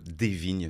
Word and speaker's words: Desvignes: Bonjour Amaury, des vignes, c'est tout Vignes, simple. Ouais. des vignes, comme des vignes. Divine, ça fait un peu américain.